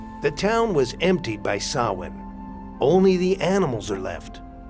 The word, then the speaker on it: Samhain: Samhain. Yeah. Irish or ancient Irish words are sometimes pronounced totally different from what you actually think it is.